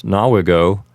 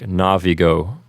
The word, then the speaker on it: navigo: In Lesson 55, we simply learn a new verb, and that's nawigo, which means sail. Remember, if you're using ecclesiastical pronunciation, nawigo would sound like navigo.